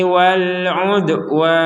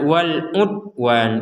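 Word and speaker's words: وَالْعُدْوَانِ: dengan pantulan atau dipantulkan Wal UD UD UD jadi pantulan jangan sekedar Wal UD Wan Wal UD Wan itu kurang jadi harus Wal udwan kita lanjutkan Wal udwani waukum di sini ada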